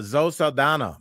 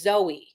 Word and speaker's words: Zoe: Uh, Zo Sana becomes the highest grossing actor ever. Wait, excuse me. Her name is Zoe.